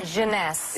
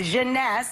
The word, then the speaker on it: Jeunesse: eight ageless what's the company how do you pronounce the Jeunesse Jeunesse its various makers yeah instantly you could see